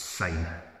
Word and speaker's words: syne: but TI for me it's not pronounced that way it's sign it means basically for